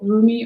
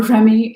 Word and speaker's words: Rumi: Um, but it's card number 35 from the Rumi or Remy, depending on how you pronounce it, Oracle deck by Elena Fairchild. And so Rumi or Remy is one of my favorite poets.